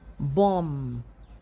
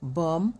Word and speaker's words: bomb: You do not pronounce the B. The B becomes silent. So, you have climb, bomb, thumb, dumb, comb, lamb, numb, and crumb.